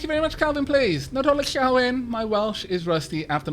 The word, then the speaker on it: Nadolig Llawen: Nadolig Llawen.